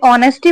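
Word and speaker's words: honesty: translation शुरू करते हैं ऑनेस्टी इस वर्ड को ना हमेशा नेस्टी लोग पढ़ते हैं लेकिन यह नेस्टी नहीं होता है इस वर्ड में एच जो होता है वो साइलेंट होता है तो ये ऑनेस्टी पढ़ा जाता है ठीक है ऑनेस्टी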